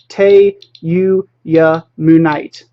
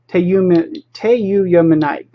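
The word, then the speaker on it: tyuyamunite: I can never pronounce that correctly. It's Teyuyamunite. Teyuyamunite.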